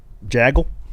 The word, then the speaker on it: jagil: How would you pronounce this underscore J A G I L Jagil Jil Jaggle Jaggle.